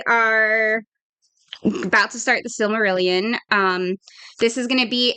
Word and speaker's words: Silmarillion: Is that how you pronounce it? Yeah. Silmarillion.